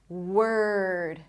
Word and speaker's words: word: The O is not pronounced. Were. So just like here, H to the R. Her. Her her. Here we want to transition from the W to the R directly. Were W were word.